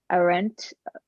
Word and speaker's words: Arendt: to and apologies about how i'm going to pronounce her second name it i always um butcher it and hannah arendt or yeah um a-r-e-n-d-t for people if i